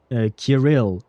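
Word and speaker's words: Kirill: But yeah, even the the Kiril, he pronounces it Kil, right? or something like that, which is it does feel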